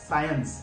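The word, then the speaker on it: science: साइंस, that means S और सी, S plus सी जहां पर भी साथ में हो तब आपको सी को साइलेंट रखना है. उसका एग्जाम्पल है साइंस, एस सी आई ई एन सी ई. यहां पर हमने सिर्फ एस के बारे में स बोला है, सी को साइलेंट रखना है साइंस.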